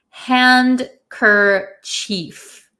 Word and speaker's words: handkerchief: So it really looks like handkerchief. Handkerchief. In American English, we pronounce it handkerchief. Handkerchief. Some people also pronounce it handkerchief. Both are okay.